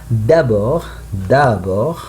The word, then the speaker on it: d'abord: You must say like that. D'abord, I teach them that. D'abord. I don't pronounce the letter D in the end.